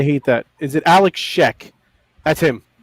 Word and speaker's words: Shek: He's painting SHEK. It's like Shrek without the R. So I'm sure he loves to hear that. He just paints, and just paints. Yeah, Alex Sheck.